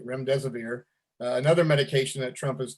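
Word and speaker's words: remdesivir: dexter dextra methisone and uh rims deserver i believe that sounds pronounced uh which is another i'm sorry ram deserver thank you rem deserver another medication that trump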